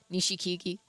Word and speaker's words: Nishikigi: Nishikigi? Nishikigi. Okay, I just said it right, but really slowly because I was unsure.